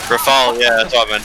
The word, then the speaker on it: Rafał: Actually, out of curiosity, like, how is his name actually pronounced with a Polish accent? His name or his nickname? His name. Well, I guess both. That is his name, I mean, just without the H. Rafał is a name, but Yeah, Raffle.